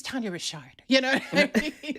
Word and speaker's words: Tania Richard: like someone mispronounces it people will be like that's it's Tanya Rashard you know what I